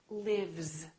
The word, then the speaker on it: lives: Look at this word live. Live. This is a voiced sound. Vv. Therefore, this S is also going to be a voiced sound which is Z. Lives.